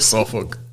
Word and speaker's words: Suffolk: Is it Suffolk? Yes. That's how you pronounce it.